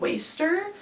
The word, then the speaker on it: WSTR: this band a lot called waster but it's spelled like wstr they're from Liverpool here